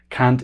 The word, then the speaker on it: kant: multis word for singing I'm pronouncing it with a hard a but the actual multis pronunciation has a softer a so it's sounds like the c word in English which is a very